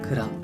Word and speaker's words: 그랑: 다음으로 그랜드와 그랑. 먼저 그랜드는 위대한, 크고 훌륭한이라는 뜻이에요. 그랜드 피아노 아시죠? 크고 웅장한 그 피아노요. 그런 그랜드예요. 그리고 그랑. 어, 그랑도 그랜드랑 똑같이 쓰는데요. 얘는 프랑스 단어라서 프랑스 식으로 발음하는 거예요.